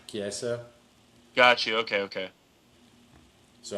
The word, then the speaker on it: Chiesa: Michael is it Cheze? How the hell do you Chiesa. say his name? Chiesa.